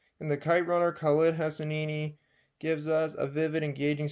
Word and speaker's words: Hosseini: In The Kite Runner, Khaled Hosseini gives us a vivid, engaging story that reminds